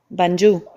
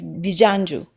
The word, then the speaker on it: Bijanju: I have the contact, someone tell me the real name was not Banju. Maybe it is a mispronunciation because it's in another language from another galaxy, but it's Bijanju. But they understood in the